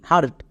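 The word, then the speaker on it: heart: এইচ ই এ আর টি হার্ট।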